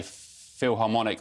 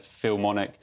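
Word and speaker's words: philharmonic: re smog I said I was meant to say philarmonic Orchestra and I said philm monic oh no so I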